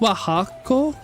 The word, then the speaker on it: Oaxaca: Oh, it's pronounced Oaxaca?